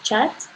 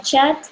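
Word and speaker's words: kyat: La moneda local es el Chat, el Myanmar Chat. Se pronuncia Chat, pero se escribe K-Y-A-T.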